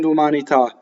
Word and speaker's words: d'umanità: So, d'umanità. Notice how the whole thing falls like a whole bunch of dominoes to the last syllable. Dumanità. All single consonants, M's and N's, okay?